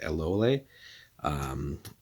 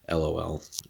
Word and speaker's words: Eloéle: So today we're taking a look at Eloéle, or if you want to be cheeky about it, obviously it's going to be the wrong pronunciation, but LOL, she is the kind